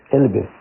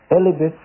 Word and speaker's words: Elpis: So when you actually look up Pandora is Elpis. I think is how you say it. Elpis. Elpis is the first woman ever created.